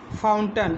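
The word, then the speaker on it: fountain: इसमें ए आई आ रहा है, लेकिन ए आई का उच्चारण क्या है, छोटा आ के रूप में हो रहा है।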